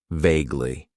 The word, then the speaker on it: vaguely: Then we have an adverb that I like to use and that is vaguely. It has two syllables and the stress is on that first syllable.